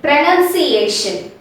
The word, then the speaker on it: pronunciation: incorrectly this is because we have a confusion between these two words pronouns and pronunciation these two words are spelled differently and our pronouns pronounced differently okay and pronounce we have o after n and in pronunciation we